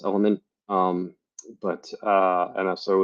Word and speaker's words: LMNT: am an affiliate for lmnt or pronounced element um but uh and